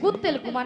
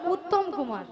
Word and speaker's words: উত্তম কুমার: ও শ্রী শ্রী বলো শ্রী শ্রী শ্রী শ্রী কুত্তেল কুমার নয় বলো উত্তম কুমার উ উত্তম কুমার হ্যাঁ মিয়া পড়ি যে আমি